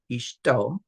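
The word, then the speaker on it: אשתו: So this isht right here, just this part right here would be pronounced isht, and then o, ishto, and then the be is in.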